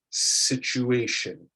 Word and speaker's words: situation: And lastly, for this section, we have a CH sound rather than an SH sound, situation. So this one is a ch rather than the SH, which is a sh. It's a slight difference there.